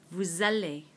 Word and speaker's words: vous allez: Again, just like the new form, this S, which is normally silent, normally it's pronounced vous, suddenly is going to become pronounced because of this vowel, this A in aller.